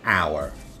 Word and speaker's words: hour: letters an honor an hour did you hear the pronunciation honor our in some words the letter H is unvoiced so we use the